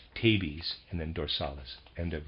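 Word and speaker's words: tabes: utter nonsense readers aside i'm pronouncing t-a-b-e-s as tabi's and then dorsalis end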